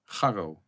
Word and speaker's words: Gar Ro: So in English, you have Gary. Gary. So you can make it Gar Ro.